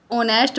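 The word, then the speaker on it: honest: ही इज ऑनेस्ट मैन। देखो यहां एच जो होता है वो साइलेंट होता है। ओ से स्टार्ट होता है।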